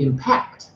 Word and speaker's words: impact: what's wrong with that because we accent verbal forms on the second syllable should be impact and we have lots